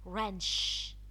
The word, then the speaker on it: wrench: it followed doubt W so the W is silent wrench the are followed the